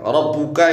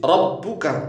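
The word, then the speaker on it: ربك: alam Ka faalbuka rbuka Ini bacanya enggak boleh diganti loh ya Jadi enggak boleh diganti r buuka r buka enggak boleh gitu walaupun to mirip mirip ya tapi kan itu baknya ditasdid rabbuka bukan R buuka kalau rq buuka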